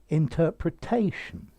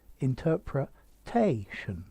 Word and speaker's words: interpretation: the words but notice interpretation here the stress has moved interpretation so it's on the penultimate syllable okay so here we